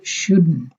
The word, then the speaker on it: shouldn't: এটা উচ্চারণ হবে শুডন্ট, শুড নট হবে না, শুডন্ট।